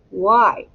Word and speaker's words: why: to spell it so we're going to put a long vowel sound y and it's going to be the sound of i scoop it and it